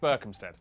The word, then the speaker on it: Berkhamsted: And the R sound in... Oh, this is disgusting. Oh, sorry, Berkhamsted.